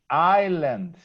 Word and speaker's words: island: Island. Island. You don't This pronounce the S.